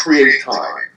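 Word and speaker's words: CRE8TIME: CHA Foundation, and that's Create Time. It's spelled CRE, the number 8 time.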